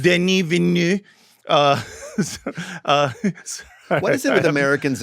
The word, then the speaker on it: Denis Villeneuve: And meanwhile, over 1,000 prominent directors and actors and writers, including Denis Villeneuve, however you pronounce that guy's name. Denis Villeneuve. Denis Villeneuve.